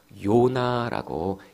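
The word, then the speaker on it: יונה: 그런데 여기 나와 있는 이 비둘기라고 하는 이 단어는 히브리어로 읽으면요, 요나라고 읽을 수 있습니다.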